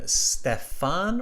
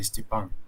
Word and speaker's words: Stepan: May I ask, is the pronunciation of your name Stefan or Stepan? Oh, you you can pronounce it like you want, but in original pronunciation, it would be better to say Stepan.